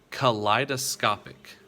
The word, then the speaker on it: kaleidoscopic: each of you to at home try to pronounce this word that is o p k-a-l-e-i-d-o-s-c-o-p-i-c what word is that that is kaleidoscopic that is kaleidoscopic now if i were to